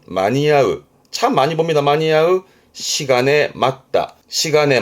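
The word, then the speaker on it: 間に合う: 발음은 마니야흐 봅니다.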